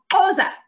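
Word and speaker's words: Xhosa: The biggest ones are English, Afrikaans, Zulu, and Khoza. And actually, when you say the word Khoza, you're supposed to do it with a click like this. So it should be pronounced Khoza, which is quite difficult to do.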